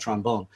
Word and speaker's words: trombone: playing on a cold trombone. That is that in New Orleans, you don't play the trombone or the clarinet. You play the trombone and the clarinet. There's a first syllable emphasis on these.